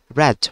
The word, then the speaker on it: read: i pronounce it that red y actually read is a present form but a rad is a past form whenever you will be